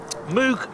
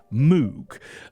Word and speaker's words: Moog: makes stuff like this Moog, a company founded by Bob Moog. This is because I'm entirely convinced that Moog Music called itself Moog Music certainly in the 60s, 70s and 80s.